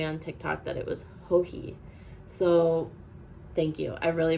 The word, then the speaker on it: Joji: And I pronounced her name as Joji as I just did now. And someone kindly corrected me on TikTok that it was Hoi.